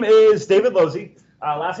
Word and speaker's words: Lozzi: name is not working my name is David low Z last names pronounced alone Z you can just call me